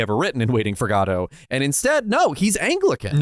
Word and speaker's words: Godot: stressed both I syllables. thought about it. I thought about it too hard. So Godot. There we go. Godot.